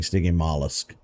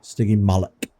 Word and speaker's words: Stygimoloch: All right, so I have been pronouncing it wrong this whole time. I was saying stygimolusk. Like it's some sort of slug or snail. Stygimoloch.